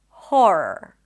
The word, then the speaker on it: horror: I'm going to start with the more common one, and that is an H sound, then the or as in for, hor, and then r. Horror.